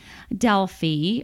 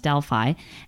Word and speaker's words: Delphi: Well, traveling through Greece, let's go to central Greece, where you find Athens, Delphi, or sometimes pronounced Delphi, and Mount Olympus.